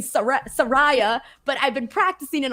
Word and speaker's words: Saraya: person, I'm guilty, Phil, of saying Saraya instead of Saraya. So I was saying Saraya instead of Saraya. There you go. That's what it is. Because of the way that it's spelled.